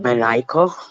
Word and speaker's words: maniacal: It's pronounced like Oh, maniacal. Maniacal. Maniacal. maniacal. Yeah, Maniacal. maniacal. Oh, maniacal. Yeah. Like a maniac.